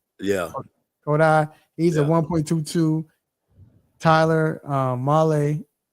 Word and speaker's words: Kodai: Kodai. Yeah. Kodai.